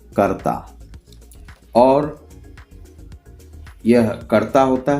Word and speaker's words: कर्ता: और इसका प्रोनाउंसिएशन क्या है? प्रोनाउंसिएशन है कर्ता। देख लीजिए, कर्ता।